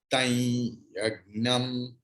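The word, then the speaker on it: तं यज्ञं: Tai, why not tam? Tam is correct. But according to Krishna Yajurveda, after Anushwara, if there is ya, then Anuswara's pronunciation will be like yang, yang, yang. Okay. Tai yagnam, tai yagnam, varhishi, praukshanna, praukshanna.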